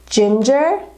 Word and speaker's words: ginger: Another word we can try to remember that when we pronounce it has a J sound, but it is spelled with a G, is ginger.